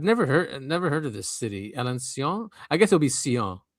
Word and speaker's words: Alençon: This was in Europe in a city called Alençon, I think. Alençon. Yeah, Alençon, because it has an accent on the C.